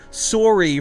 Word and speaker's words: sorry: I am sorry for pronouncing words correctly. You guys say sorry as if there's an A in there somewhere, but it's S-O-R-R-Y.